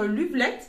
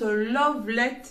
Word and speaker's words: Luvlette: vidéos les personnes qui présentent les produits dire Lovelet, mais moi j'ai bien eu l'information comme quoi ça se prononce Lovelet par la marque.